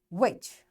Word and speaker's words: which: Sometimes the letters T, G, and H are not pronounced in a word. For example, echo, design, which. So here, these three letters are silent.